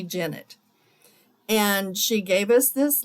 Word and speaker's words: Jennett: She said it's pronounced like Bennett, so it's Vicki Jennett.